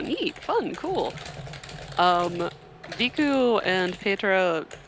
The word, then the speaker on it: Pietre: about hung up on things, it's Pietre? It's Pietre. Pietre. Great. Pronounce it Italian style.